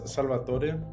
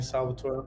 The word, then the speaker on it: Salvator: Um, well, yeah, my name is Salvator, but a lot of people call me Salvatore. Honestly, I don't really have a preference.